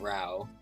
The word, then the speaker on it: Rayo: I'm pretty sure you would pronounce that Rao.